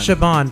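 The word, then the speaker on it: Siobhan: s I forget how to pronounce her name saan or shean I can never remember how to say Connor and Roman Shaban thank you as like I don't watch this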